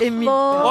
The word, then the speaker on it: Faure: Édouard Faure.